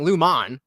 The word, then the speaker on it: Lumon: love how all the captions always spell it's Lumen l m o n but everybody says Lumen and then the the autoc captions always correct it to l m n and she's specifically saying Luman and it spells it